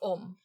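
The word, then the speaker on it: Ogham: It said Ohm. It's spelled O-G-H-A-M. Yes, but that is pronounced Ohm.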